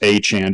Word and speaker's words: Achane: But I disagree that his name should be pronounced Achane. Did you hear about this? Yeah. So apparently everybody's been saying his name wrong since college. Yeah, it's he had all this time to correct it, but now he says it's pronounced Achane.